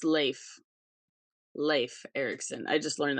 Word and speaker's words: Leif: goes actually it's pronounced Leif and she goes you know like you go to Hawaii and they give you they give you a lei it's Lei she goes